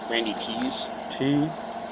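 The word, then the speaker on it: Thies: It's pronounced like Randy Tees.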